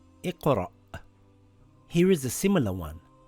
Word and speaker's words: إِقْرَأْ: It reads iqra. Iqra. So it's not iqra. You have to pronounce the hamza with a sukoon. It's like a half an a sound. Iqra.